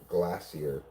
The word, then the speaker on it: glacier: You love how Brits say glacier. Glassier. Yeah, I like that, too. It's classier. It's the classier way of saying glacier.